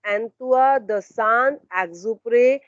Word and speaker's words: Antoine de Saint-Exupéry: So his name, how are we going to pronounce? Antoine de Saint-Exupéry. This is the correct pronunciation of his name.